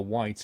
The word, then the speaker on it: white: If you think about it, like the color white has a silent H in it. White. We don't say white, so we say white. Posh people say white.